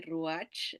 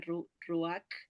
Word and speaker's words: ruach: en español se escribe ruach verdad pero se pronuncia ruac como que si fuera una q o una k al final ruac y Numa hay